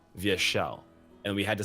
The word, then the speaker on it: Vyeshal: and I'm like no it's not vile it's via shell and we had to